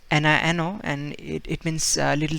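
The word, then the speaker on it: niño: a um example that this one uh it's nino and it it means little child in spanish so we pronounce that nino see no just you need to add that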